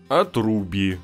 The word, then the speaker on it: отруби: Отруби, ржаные и хрустящие. Я знаю, что правильно говорить отруби, но он в отрубе.